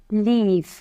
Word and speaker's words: leave: লাইভ এরপরেরটা এল ইভি লিভ লিভস প্রথমটা এল আই ভি তে উচ্চারণ হয়েছে লিভ লিভ এখন এল ইভি লিভ একটু বেশি টান দিতে হবে অর্থ চলে যাওয়া বা